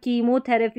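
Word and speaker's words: chemotherapy: यहां पर सी एच आ रहा है। इसको हम क पढ़ रहे हैं। साइंस और टेक्नोलॉजी वाले जो शब्द है यहां पर कीमोथरेपी हो थेरेपी हो गया और ये टेक्नोलॉजी हो गया।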